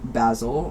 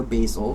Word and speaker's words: basil: And we have card number 21, which is basil or basil, depending on how you want to pronounce it.